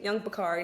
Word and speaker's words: Yungpicari: I'm like, oh, it's actually Young Bakari, not Young, I don't know, Capri Sun.